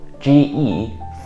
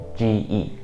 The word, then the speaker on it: 个: Ge, fourth tone. Ge.